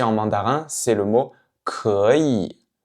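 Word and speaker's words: 可以: Petite particularité ici, vous voyez qu'on a deux fois le troisième ton, donc 可, et puis yi. Mais quand je prononce le mot en lui-même, d'un seul coup, je ne vais pas dire 可以, je dis 可以, 可以.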